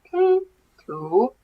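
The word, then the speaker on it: 拼图: The first word is puzzle, and you pronounce it as pin-tu.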